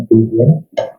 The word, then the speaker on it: Euclidean: Diagram geometri dari Euclidean ya, jadi bacanya Euclidean.